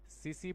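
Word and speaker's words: tsetse: सीसी फ्लाई, है ना, इसमें टी साइलेंट होता है।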